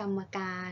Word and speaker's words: กรรมการ: คำ กัน ค่ะ อ่ะ ให้ กรรมการ อ่าน ว่า กรรมการ ก็ หมาย ถึง ผู้ ที่ ได้ รับ เลือก